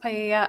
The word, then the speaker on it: paella: going to be used to cook paella. I'm not sure if that's how you pronounce it at the party. It's pronounced paella.